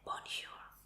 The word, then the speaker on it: bonjour: Y bueno, si no sabías, en el francés la última letra jamás o en paso a esta R, pero sí escríbelo, así se escribe correctamente. Así que solo se va a decir bonjour.